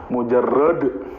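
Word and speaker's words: مجرد: Pakai dal bukan pakai ta Pak. Mujarrad.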